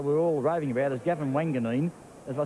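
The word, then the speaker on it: Gavin Wanganeen: Well, the one young player we're all raving about is Gavin Wanganine.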